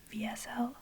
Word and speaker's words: WSL: You will probably hear me call it VSL sometimes, because it's called VSL in German, like you pronounce the W as a V, so don't be confused.